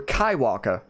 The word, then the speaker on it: Kaiwaka: Or Kaiwaka, I believe is how you say it.